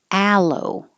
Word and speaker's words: aloe: same vowel ah aqua aloe now the vowel is a i put a e here to remind you that it's the same ah as in hat so you have to open and lips back alo bermuda bermuda woof aquarium